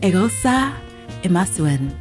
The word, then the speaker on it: Eghosa Imasuen: Eghosa Imasuen, welcome to the podcast. See, I told you you'd pronounce it well.